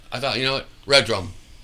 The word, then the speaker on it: Redrumed: thought you know what red drum perfect two syllables boom you know it